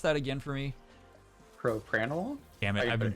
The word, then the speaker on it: propranolol: what we're potentially getting at um it's called per panel it's a beta blocker it's also used for um i'll see you spring sorry i'll see you that way pronounce that again for me propranolol yeah i've been pronouncing that wrong for a